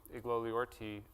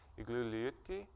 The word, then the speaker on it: Igloliorte: But there's an Inuktitut pronunciation that I get corrected on if I'm in northern Labrador or other places, which it's pronounced more like Igloliorte.